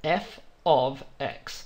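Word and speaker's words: f(x): brackets like this and we would pronounce that as f of x that's how you read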